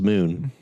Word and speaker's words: Mun: Even though this is Kerbal's moon. MUN. MUN. No, well, it's still pronounced moon because it's an umlaut. Ooh. So it's an ooh sound.